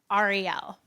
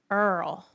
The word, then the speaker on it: Ariel: my name one way Jewish people pronounce my name Ariel but my dad is Spanish and Spanish people say it but I grew up in Kentucky and they say it Earl that's how they say